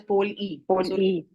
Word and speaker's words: POLE: a grammatical thing it although we write it as pole it is it is pronounced as pole e it it is called a pole e mutation yes yeah so when